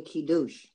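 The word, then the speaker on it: קידוש: the kidus and actually the word is not kiddish it's really kidus talk about where the accent is it's on the last syllable douche so uh now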